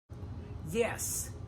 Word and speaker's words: yes: Remember that the "y" sound in English starts with "eee" (iii), so "yes" "yellow" The tongue never touches the roof of our mouth.